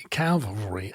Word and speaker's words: cavalry: Is actually a Swedish metal band, and Calvary is a Christian rock band. That's the difference. Cavalry. I've never been able to say it, and the problem is I cannot actually pronounce the word cavalry.